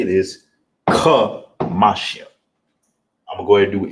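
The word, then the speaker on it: חמישים: It's not ka, salaki, it's ka. That's how you pronounce it. Kamashian. Not ka like a car, not ka like a kite. Kamashian. You want to make sure you put emphasis on that.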